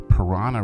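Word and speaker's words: Paraná: This is along the Parana River. I wouldn't swim in a river named Parana, although it's spelled differently.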